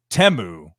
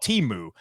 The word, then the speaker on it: Temu: company that had the most advertisements but it's temu at least I that's what I've learned that it's how it's pronounced it used I used to call it teu but in the commercial you heard them singing